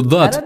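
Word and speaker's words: ض: что-то среднее между буквами некоторые произносят этот звук как з это неверное произношение если у вас не получается правильно произнести букву БАД то лучше произнести ее как букву Д буква Дат одна из самых сложных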